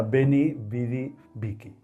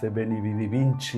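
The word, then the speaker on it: Veni, vidi, vici: La expresión correcta era Benny, Vidi, Vicky. Entonces, la gente quizá por confusión con Da Vinci Benny Vidi Vinci incluso por lo correcto y escrito Benny Vidi Vicky sin n cuando menos sin nene.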